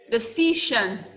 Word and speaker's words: decision: Decision. Decision. We have 3 syllables. Decision. So the C is the second. It doesn't matter how many syllables you have, but the C is the second to the last. The shun is the last syllable.